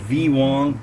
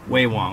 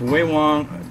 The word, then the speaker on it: Ve Wong: Like Wei Wong. No, that's pronounced Wei Wong. I found out while I was in Taiwan. And it's Wei Wong, Wei Wong, instant noodles, artificial premium garlic pork flavor.